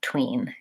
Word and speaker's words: between: the syllable between and so they put a stress mark that looks like an apostrophe before the stressed syllable so that tells me that the bit is unstressed and the tween is stressed the challenging thing is